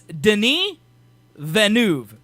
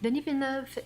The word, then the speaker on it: Denis Villeneuve: His name is 3 syllables. The whole name. Villeneuve. I believe it's Denis Villeneuve.